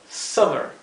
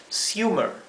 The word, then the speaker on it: summer: Como aquí la wm eso indica que la vocal que lo precede se pronuncia de una manera bien corta s esto se pronuncia Summer Summer qué ocurriría si inventário m esta palabra se pronunciaría suer suer sí la u se pronunciaría u pero la doble m nos indica que esta vocal debe pronunciarse de una forma bien corta Summer e Summer Sí